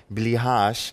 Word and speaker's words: Blicharz: by the very important Michal Blicharz, as his surname is pronounced, also known as Carmac,